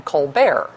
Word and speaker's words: Colbert: be Elizabeth Colbert Bush her brother uses a much fancier pronunciation of their last name you know him as Steven colar on the Republican side